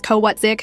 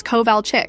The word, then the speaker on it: Kovalchick: "Yes, Mrs. Kowatzik," I said, pronouncing her name like I was sounding it out for the first time. Her head snapped up from her notes. "It's Kovalchick."